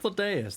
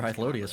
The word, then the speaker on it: Hythlodaeus: Hythlodaeus, that's how it's pronounced. Too long I've been calling this fucker Hythlodius for a while.